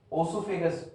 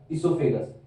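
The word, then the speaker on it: oesophagus: ठीक है, माउथ से अपन खाएंगे खाना, देन ओसोफेगस, ओसो नहीं बोलते इसको, ईसो बोलते हैं। ओ is going to be silent, O silent है हमारा। ईसोफेगस, ईसोफेगस इज a food pipe, food pipe को ही कहते हैं ईसोफेगस।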